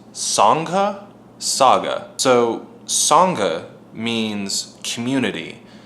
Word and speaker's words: Sangha: not even know how to pronounce it it's pronounced Sangha saga so Sangha means community it's typically used